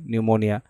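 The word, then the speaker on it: pneumonia: দেবে তারপরে যেমন কি নিউমোনিয়া বানান দিবে সেটা পি দিয়ে শুরু হয় নিউমোনিয়া ঠিক আছে নিউমোনিয়া যেমন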